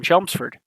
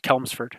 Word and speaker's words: Chelmsford: odd pitch here in Chelmsford I'll thank Golden FM for teaching me how to pronounce that correctly as chelmsford because for a long time I thought it was kalms ferd so you know glad